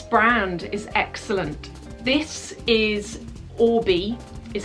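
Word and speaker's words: Oribe: This is Orbi, is how it's pronounced.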